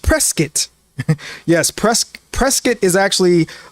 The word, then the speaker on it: Prescott: I mean it's pre a lot of people say Prescott, but it's actually pronounced Prescat.